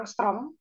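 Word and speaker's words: ångström: Jadi inframerah itu sekitar 7.500 angstrom, ini bacanya angstrom, seperti huruf A ada bulatan kecil di atas, itu namanya angstrom.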